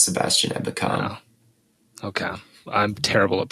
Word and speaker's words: Ebukam: Ebukam. Is that how you pronounce that? Yeah, it's Sebastian Ebukam.